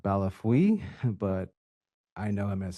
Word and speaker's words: Bellefeuille: an individual named Scott Bellafoil? Or how do I pronounce the name? I'm sorry if I mispronounced it. Yes, Your Honor. I believe it's Scott Balafui, but I know him as Scott B.